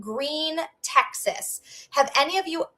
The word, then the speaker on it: Gruene: So, no Gruene, Texas. And you know how it's spelled, Jerry and Joe, which is funny, is g r u e n e. So, it looks like it should be Gruene, but we're going to